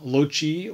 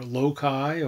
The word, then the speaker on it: Loci: publication of philip melanthon's well it depends on who you listen to to pronounce the traditional title lochi or lokai or losai communis common places or perhaps